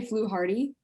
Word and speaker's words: Fluharty: wrong am i well so we say flu hardy like we say foo hardy but um when so